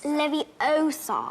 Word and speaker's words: Leviosa: It's Leviosa.